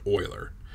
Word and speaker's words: Euler: of Euler angles yeah I know it looks like Euler but after a while and you find out that's actually some glass name and it's pronounced Euler all right so we're